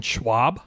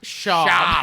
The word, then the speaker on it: Schaub: Brendan Schwab? Schaub.